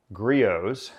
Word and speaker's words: Griot's: it weighs at least 10 pounds it's actually pronounced gree oohs because that's the obvious way you would pronounce